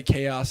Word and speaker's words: Chaos: He said it's chaos, and then I still called him Kaus because I liked how I pronounced it better. And now I just say chaos, and I'm boring. I'm like everyone else. I pronounce his name the correct way.